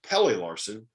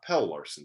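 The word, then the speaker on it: Pelle Larsson: And the last one was it's Pele Larson, not Pell Larson.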